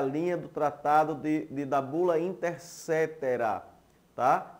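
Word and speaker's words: Inter caetera: Se você prestar atenção, é a linha do tratado da Bula Intercetera, tá? Se escreve Coetera, mas a pronúncia é Cetera, Bula Intercetera, de 1493.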